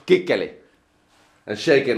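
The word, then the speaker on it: Kuechly: That guy should know that the way you pronounce his name, Kikkeli, means little boy's wiener in Finnish.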